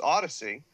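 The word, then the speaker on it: Audeze: And in the beginning when they had the apostrophe, when it was, because that's how they got the people to pronounce Odyssey.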